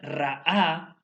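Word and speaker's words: רעה: El término apesadumbró es la palabra ra'a, ¿sí? R-A-A, con acento en la última A, que significa lo siguiente: afligir, disgustar, doler.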